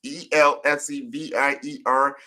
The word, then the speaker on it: Elsevier: roles at Xerox, Dow Jones, I can't even pronounce this word. It's Elsevier, Elsevier.